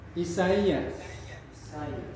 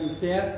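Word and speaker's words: Ἠσαΐας: Isaias. Jadi bukan Iseas tapi Isaias. Ya, sampai sini gini aja, Isaias. Cuma karena penekanannya pada i maka kita kasih tonus ya.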